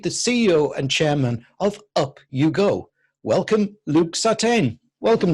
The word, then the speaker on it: UpUGo: overview I love this name by the way up you go give me a quick overview of you go